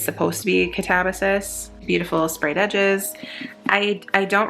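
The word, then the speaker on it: Katabasis: I say it Catabasis. Catabasis by R.F. Kuang. She has said it Catabasis and Catabasis. I'm pretty sure as far as like the classics go, it's supposed to be Catabasis.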